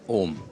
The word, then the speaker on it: ओम: ये ओ और यह डट जब हम उच्चारण करेंगे यह होता है ओम।